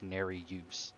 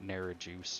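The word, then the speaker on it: Nerijus: nationality of it but it is pronounced ner use not ner juice or whatever or however you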